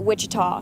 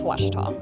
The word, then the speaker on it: Ouachita: I've heard people say, Ouachita. Wichita. Achita. Ouachita. Is it pronounced Ouachita? Searching for Ouachita Baptist University. Back in Texas, everybody pronounces it Wichita, but really, it's Ouachita. Ouachita.